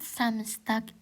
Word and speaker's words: Samstag: Montak. Montak itu Senin, Dins itu Selasa. Mitwo itu Rabu, Dona itu Kamis, Friday itu Jumat, Samstag itu Sabtu, sontak itu Minggu.